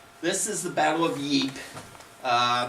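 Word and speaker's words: Ypres: is the battle of yeep uh there's a couple different ways to pronounce the name yep yes the british called it wipers with a w this is a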